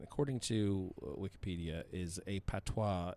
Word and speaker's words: patois: to wikipedia is a patois it is locally known as patois or patwa or pat w-a-h all pronounced the same i don't know why